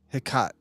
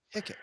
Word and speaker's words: Hecate: Hecate. Yeah, HECK-UT. Hecate is as how to pronounce it. Oh, Hecate.